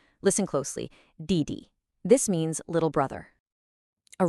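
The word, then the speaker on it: 弟弟: It actually follows the exact same pattern as bàba, a falling tone followed by a light neutral one. Listen closely. Didi.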